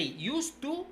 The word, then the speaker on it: used to: By the way, you pronounce it the same, okay? I say used to here with the d, and I say used to here with no d.